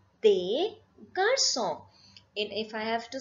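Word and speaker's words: des garçons: what when I say they Garcon please remember this last s is never pronounced so it is they Garcon and if I have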